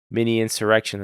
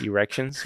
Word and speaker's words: insurrection: A lot of times they mispronounce it though. Yeah. What do they say? Like erections? Yeah.